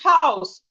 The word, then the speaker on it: house: We have exceptions, like house. The H in house is not silent, but some other words that start with H and O, most times the H is silent.